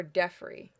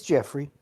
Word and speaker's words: Jeffrey: Is it Jeffrey or Deffrey? No, it's Jeffrey.